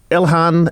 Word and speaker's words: Ilhan: And next caller is Ilhan in Battersea. Did I get that pronunciation right?